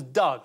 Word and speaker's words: dog: You're pronouncing dog as Doug, is that it? Doug. It's Scotland for dog.